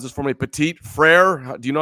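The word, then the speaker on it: Petit-Frere: And then there's a Tennessee Titan offensive tackle, Nicholas, can you pronounce this for me? Petit Frere?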